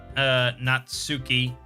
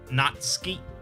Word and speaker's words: Natsuki: But it's not Natsuki. It's pronounced more like Natsuki. It sort of runs together, I guess.